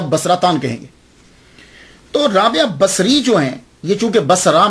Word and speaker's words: بصری: یاد رکھیے گا کہ جب آپ اس کو تلفظ کریں گے تو باساری نہیں کریں گے، سواد کے اوپر زبر نہیں پڑیں گے۔ اگر آپ نے سواد